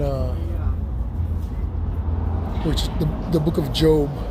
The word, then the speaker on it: Job: which The Book of Job which is spelled like job The Book of Job explains that of